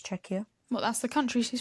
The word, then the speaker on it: Czechia: I'm female, 22, from, and I had to Google the pronunciation of this word because I didn't want to get it wrong, Czechia. That's what it says, Czechia.